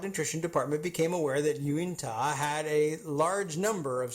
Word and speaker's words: Uintah: local geographical location, and you could pronounce it as written, but we don't. So I'm familiar with this. At any rate, we'll just call it, let's just say it's Utah Elementary School.